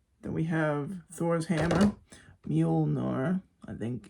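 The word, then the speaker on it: Mjölnir: Then we have Thor's hammer, Mjolnir, I think it's pronounced.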